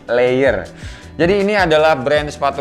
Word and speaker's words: Leior: kita biasa denger ya ini dibacanya adalah leier bukan lirik jadi layer jadi ini adalah brand